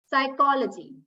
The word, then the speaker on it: psychology: we have letter P letter P is also silent when it is followed by s in most of the cases for instance psychiatrist psychology pseudo we don't pronounce it as Pius right so paste silent when